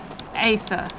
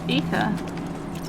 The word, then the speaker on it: Aether: A hard A. Aether. Aether, yeah. How did you pronounce it before? Ether.